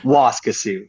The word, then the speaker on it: Waskesiu: I always get the pronunciation right. Waskesiu, right? Is it Waskesiu? Is that the name of the town? Or? Waskesiu.